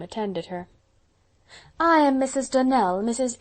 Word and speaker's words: Donnell: morning connected with the donald children clarice almira told me that you pronounced our name donal now miss shirley the correct pronunciation of our name is donnell accent on the last syllable i hope you'll remember